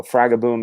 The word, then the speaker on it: Fragaboom: yesterday the proper pronunciation when you take my last name, which is, but you it has a modifier. You put boom next to it, it becomes Fraga. So Fragaboom is the official.